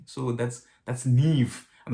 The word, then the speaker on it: Niamh: it was oh you know but apparently it's neve you know like i said so um h m or mh at the end for for gaelic is it's v so that's that's nev i'm not sure i'm actually not sure what